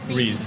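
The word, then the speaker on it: Riis: really cool Reese Park am I saying it right rice or Reese Park Reese Reese I was I'm glad Reese Park okay let's talk about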